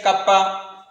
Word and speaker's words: kappa: K means here kappa. The pronunciation is kappa. K double P A.